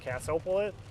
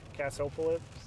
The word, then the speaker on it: Cassopolis: uh Cass oh police Cassopolis can't even pronounce that it's like Minneapolis but with Cass in front of his Cassopolis it might stop right